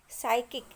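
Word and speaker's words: psychic: साइकिक. साइकिक में P letter silent है.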